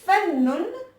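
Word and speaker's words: فنّ: Fa, donc avec le son A, donc on voit la fatha. Nun, et donc là on voit bien qu'on appuie sur la lettre Nun, Fannun, et donc il y a Ashadda qui est là.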